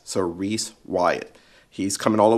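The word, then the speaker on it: Rhys: His name is Reese. And I believe it's spelled, let me make sure I get it right, R-H-Y-S. So Reese Wyatt.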